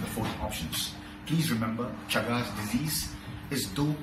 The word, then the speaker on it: Chagas: It rhymes like that. Chagas disease resembles or rhymes like mega disease.